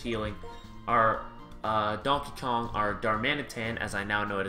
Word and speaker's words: Darmanitan: So where we left off in the last episode, we had just finished healing our Donkey Kong, our Darmanitan, as I now know it is pronounced, not Darmanitan, so I was pronouncing it correctly.